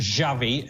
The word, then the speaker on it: Xavi: for em and says your pronunciation of Xavi is wrong I do say Xavi obviously it's a shovey if you want to get it absolutely correct but hey you know